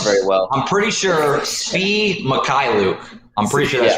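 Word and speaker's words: Svi Mykhailiuk: Yeah, okay, so Ricky has the pronunciation. So. Yeah, I was right on Svi. Yeah, it is Sevi Mikhailiuk. Sevi Mikhailiuk.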